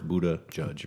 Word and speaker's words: Buttigieg: I looked it up how to say it, and it's two words, Buttigieg.